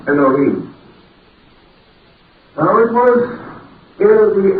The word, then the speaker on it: Elohim: We generally pronounce that as Elohim, or more perhaps correctly, Elohim.